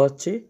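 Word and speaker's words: ح: যে গোল বিন্দুগুলো দেওয়া হচ্ছে এগুলোকে আরবিতে নক্তা বলে তো নিচে নক্তাক্তা দিল জিম আর নক্তাক্তা যদি না থাকে তাহলে হা এই হা টার উচ্চারণ একটু গলার মধ্যে চেপে করতে হয় হা এটা একটু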